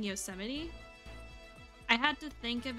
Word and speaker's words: Yosemite: pronouncing the word pronouncing Yosemite I had to think of it like really hard I had to think about like the way that Yosemite Sam was pronounced in the cartoon um because if I